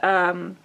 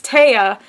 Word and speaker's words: Tea: And this is the continuation of the story about, and they did say her name is pronounced Taya, and it's not pronounced T like I thought it was. It's Taya.